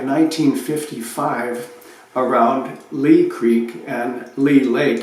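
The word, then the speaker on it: Leigh Lake: around Lee Creek and Lee Lake it's spelled l e i g h and this is Lee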